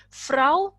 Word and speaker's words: Frau: as we have done au has the sound of ow Frau ciphered blank intere not